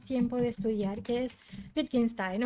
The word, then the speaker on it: Wittgenstein: cuando me escucha hablar, dice que es el bicho Stein, así, el bicho Stein, con el bicho Stein. Es Wittgenstein, es que él es austríaco y por eso tiene el nombre así, se pronuncia así.